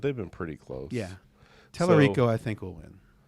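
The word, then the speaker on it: Talarico: There's a chance that the Senate will flip with Tellerico. Tellerico, is that how you say his name? Yeah, Tellerico.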